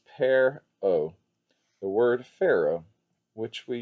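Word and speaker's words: per-aa: a little bit like a fish and is pronounced pear o the word pharaoh which we use for egyptian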